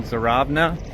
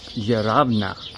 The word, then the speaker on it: Zheravna: So, we're in the Balcon Mountains in Bulgaria at a town called Zarabna.